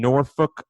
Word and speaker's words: Norfolk: It's a leap year, so we got a February 29th at the Chartway Arena in Norfolk, Virginia. That's how the locals say it, Big Marcel, Norfolk, not Norfolk.